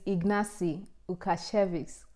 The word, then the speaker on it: Ignacy Łukasiewicz: And can you slow down for those who do not know how to pronounce it, please? Okay, the name of the scholarship is Ignacy Łukasiewicz Scholarship, okay, for master's students.